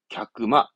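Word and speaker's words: 客間: 객이면 갸크. 이건 시간 공간의 간자거든. 그러면 칸 하는데 발음은 갸크마. 말하는 게 뜻이라. 갸크마. 물론 손님이 머무는 공간 그런 사랑방이라는 걸 말하게 되지만 갸크마. 발음은 그렇게 하더라 이겁니다.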